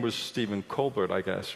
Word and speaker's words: Colbert: Steven covert and the colbert except that he the one thing he did you know decide to have his name pronounced Colbert early on you know I already